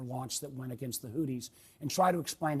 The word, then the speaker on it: Houthis: Again, Houthis. Someone on his team may want to point out that's not how you say it. It's Houthis.